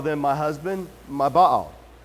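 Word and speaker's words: Baal: in English it's not bail its bow and there's a little apostrophe between the A's so bow it's just the Hebrew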